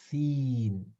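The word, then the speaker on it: سين: Oh, Seen. see. Seen. See. Yeah. So this one is quite similar to tha, and Uh-huh. seen. But the See. difference is seen is pronounced regularly like S in English language, but tha, it's pronounced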